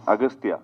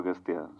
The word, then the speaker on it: Agasthiyaa: It is Aghathiyaa, but in the film, your name is pronounced in different ways. Agasthiyaa. Yeah. In both ways, it is pronounced. Yeah, it's Aghathiyaa and also Agasthiyaa.